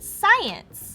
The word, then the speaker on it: science: it out i skye well in this word the sc actually makes this sound and this word has two syllables like this so use those clues to help you sound out the rest of the word i sai and science